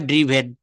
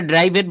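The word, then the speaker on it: driven: I have ড্রিভেন। এটা ড্রাইভেন বলবেন না। উচ্চারণটা হবে ড্রিভেন।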